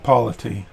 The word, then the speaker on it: polity: word is, and this author keeps using it, polity.